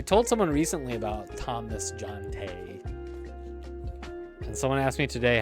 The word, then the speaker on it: Jonte: I'm like, John as in Jonathan, Tay as in Taylor.